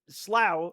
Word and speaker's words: Slough: Slough rhymes with plow.